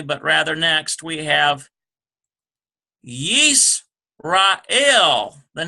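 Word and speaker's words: ישראל: or not finally but rather next we have yeast Rael the name for Israel so let's write that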